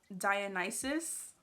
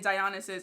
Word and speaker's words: Dionysus: the gucci super mini dionysus i had to look up how to say it because i was definitely saying dionysus i was like that does not sound right so yeah this is